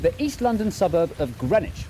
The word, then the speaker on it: Greenwich: East London suburb of Greenwich where you don't pronounce the W or one of the